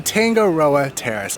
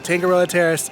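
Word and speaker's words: Tangaroa Terrace: popular but just as fun okay it's the tangoa Terrace I'm sorry I mispronounced I said it the wrong thing Anthony corrected me on it but yes there it is you see the sign right there tangoo Terrace to your quick service location here they also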